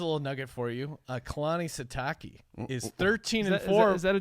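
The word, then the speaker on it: Sitake: Kalani Satake is 13-4. Is that a Japanese dish? It's the shiitake. How do you pronounce his name?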